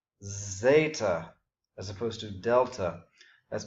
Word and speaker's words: zeta: Zeta. Notice again I'm pronouncing the second letter here as the long E, just as I did with beta. Zeta, as opposed to delta.